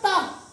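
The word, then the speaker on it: talk: एल के आता याला आपण काय वाचत असतो टॉप काय वाचतो आपण आणि जेव्हा मुलांना शब्द पाठ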